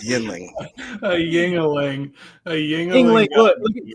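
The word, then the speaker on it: Yuengling: How do you pronounce this, sir? That is a beer that is named Yinling. All right. So Jacob says Yinling. All right. Emilio, how do you pronounce it, sir? That's a Yuling right there, man.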